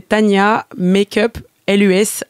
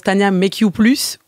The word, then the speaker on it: Tania Makeuplus: tu fais Alors c'est Tania Makeup LUS, en fait ça se prononce Tania Make You Plus, mais tout le monde comprend Tania Makeup Lus. C'est vrai que j'ai toujours dit Tania Makeup Plus, ouais.